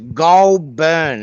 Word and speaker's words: Goulburn: uh we're reporting live from somewhere else it's pronounced golburn anyway we got Richard still here uh Richard